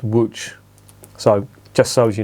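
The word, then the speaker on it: Łódź: there's a place name in poland called um it's spelled l-o-d-s that's not lods it's pronounced which so just so as you know whenever you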